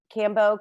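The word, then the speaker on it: Kambo: that i did um cambo combo i've heard it pronounced both the frog and um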